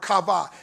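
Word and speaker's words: קָוָה: word weighted there is the Hebrew word kava it's spelled k-a-h-v-h kava it means a straining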